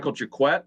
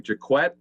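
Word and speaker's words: Jacquet: Michael Jaquette is how you pronounce his last name, Jaquette.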